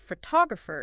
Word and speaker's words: photographer: Word stress is about which syllable in a multisyllable word receives the strongest emphasis, like photograph is stressed on the first syllable, but photographer is stressed on the second.